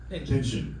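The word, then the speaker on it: Pynchon: Yeah, well, how do you pronounce the name? Pinchin. Pinchin. Pinchin.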